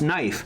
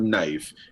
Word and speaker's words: knife: saw caniffy and people told me that's just pronounced knife so um what do I know I'm a